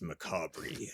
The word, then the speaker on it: macabre: Reading over your shoulder, like, it's actually pronounced macabre.